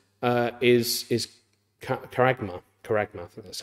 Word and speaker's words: charagma: uh is Mark it says uh is is charagma kma that's how you pronounce that's pronunciation at the bottom there um